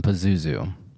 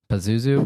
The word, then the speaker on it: Pazuzu: up a stream real quick this is um Pazuzu and to show you guys on the stream